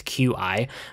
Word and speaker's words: Qi: So I got one of these, I think they're pronounced Qi chargers. It's Qi, but one of the wireless chargers.